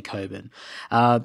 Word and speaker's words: Cockburn: sorry Gregory Mason from Coburn central in W eh it's spelt Cockburn but I'm pretty sure they say Coburn Patricia from Footscray and